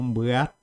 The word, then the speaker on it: mbuatı: Nós pronunciamos ela como mbuatı. Mbuatı, reparem, mbuatı. Prestem atenção no I. I, na verdade, é uma das letras, né, do abecedário ou do alfabeto guarani. E ele tem uma pronúncia gutural, por isso falamos I.